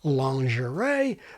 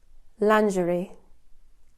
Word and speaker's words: lingerie: Or lingerie, which is in the dictionaries as the standard American pronunciation, but we're pronouncing that final IE as A if it's meant to be like the French pronunciation, is a fail the same way calm down is a fail. But lingerie, like covert, has its own logic and succeeds in sounding like French by analogy with café, ballet, négligé, gourmet, etc.